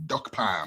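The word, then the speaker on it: Dokpam: look for duck farm it's spelled d-o-k-p-a-m duck Pam once you have duck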